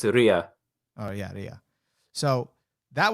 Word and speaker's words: Leah: with ruby and st snow specifically do you pronounce it leia or leah it's ria oh yeah yeah so that was really cool